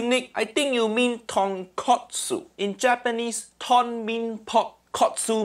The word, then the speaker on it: tonkotsu: out of myself so tonkatsu mean fried piece of pork that completely different thing say it properly tonkotsu tonkotsu i've already started a